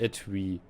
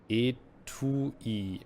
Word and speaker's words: Etui: Nicht Etui. Es wird Etui ausgesprochen.